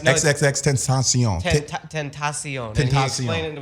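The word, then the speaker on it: XXXTentacion: I found out actually how to actually pronounce his name from him himself. Triple X, No, XXX Tentacion.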